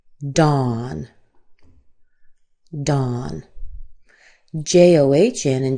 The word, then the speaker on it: John: So John John, you'll want to make sure that your A is the same as the A as in father.